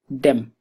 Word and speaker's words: dem: is with the verb dem dem the a is a short vowel so them to go